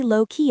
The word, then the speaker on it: lowkey: You say, "It was pretty lowkey actually." Go ahead and say it out loud. Notice how the stress falls heavily on the word low.